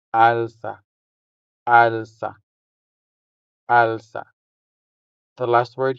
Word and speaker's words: alsa: Alsa. Alsa. The stress is on the first syllable, making the first a sound longer than the second one. So, we say alsa.